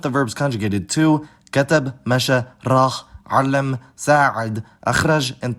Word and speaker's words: مشى: This is the case with the verb masha, meaning walk.